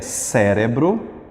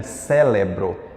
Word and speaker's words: cérebro: letra D que é cérebro cérebro tem gente que bota um l aqui né célebro mas é cérebro e fenômeno fe